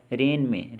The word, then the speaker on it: reign: और रेन में साइलेंट जो लेटर है वो है G।